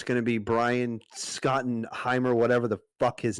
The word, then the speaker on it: Schottenheimer: Schottenheimer. Schottenheimer.